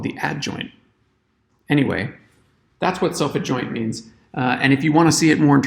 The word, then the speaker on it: self-adjoint: its own adjoint and I don't know why the emphasis in the pronunciation of this word is different because we don't say self adjoint we see self adjoint but the map itself isn't called the adjoint it's called the adjoint